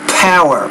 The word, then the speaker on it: power: risks of nuclear power the P is killing your pronunciation remember you got to pronounce that with more air power power there's enough air that comes out when you pronounce the P that if you put